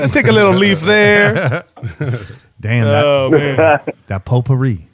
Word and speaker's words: potpourri: a little leave there potpourri the T is silent painter man it's been